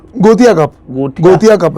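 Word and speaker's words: Gothia: आपने इंडिया को रिप्रेजेंट किया गोटा गोठा ना गोतिया कप गोटिया गोतिया कप है वो गोठा लिखा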